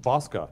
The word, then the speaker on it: Bosca: We have to talk about Michael Ferguson from Iogo, and Steve Bosca, pronounced Bosca, not like it's spelled. Got it? So when you call him up later, make sure you get it right.